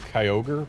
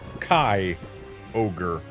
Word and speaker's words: Kyogre: We don't pronounce this Kai Ogre. At least we wouldn't. Unless there was a space or an apostrophe between the Y and the O.